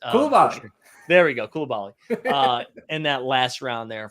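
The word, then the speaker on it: Coulibaly: And then Garen said Bilal Kulal. Oh my God, I'm pronouncing Koulibaly. There we go, Koulibaly.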